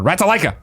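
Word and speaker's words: Ratalaika: pronunciation you're just reminder it's pronounced rata like rats I Lika say it all order right to Lika got it they may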